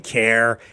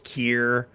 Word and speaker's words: Keir: Um So, yeah, I I've been saying Care. It just comes out. I know it's Keir.